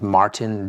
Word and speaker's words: Martijn: I think his name is Martin Doolard, but it's spelled Martijn Doolard.